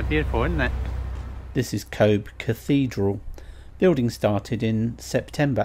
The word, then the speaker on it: Cobh: Cobh? Yeah, as in C-O-V-E.